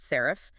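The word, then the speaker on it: SARIF: Often, this is standardized into a format like serif, pronounced serif.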